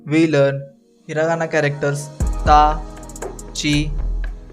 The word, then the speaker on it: ち: In this lesson, we learn hiragana characters ta, chi, tsu, te, to. Notice that the ti syllable becomes chi and tu syllable becomes tsu.